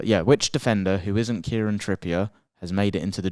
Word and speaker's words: Kieran Trippier: this surprised me but which Defender who isn't Kiran Tripper who I butchered that name there do you know I was reading the name Kiran Trier Kiran Tripper Kieran trippier let me start that game by the way